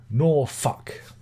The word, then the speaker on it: Norfolk: For that is the right pronunciation. Norfolk.